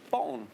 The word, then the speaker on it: Borgen: You must have been watching a lot of Danish Born, which is how we pronounce it.